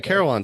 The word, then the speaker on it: carillon: you were talking about with how do the carolan is that how you pronounce it correctly right yes yes the carolan so it's a bell tower if you want